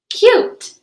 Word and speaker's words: cute: word and we know the vowel you is going to say its name and the sneaky e at the end is silent so go ahead and tap it out with me ready cute awesome job okay now